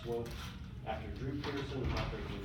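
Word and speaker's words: Swoope: It's pronounced Swope.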